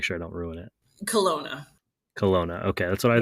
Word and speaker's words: Kelowna: want to make sure I don't ruin it Kelowna Kelowna okay that's what I want to guess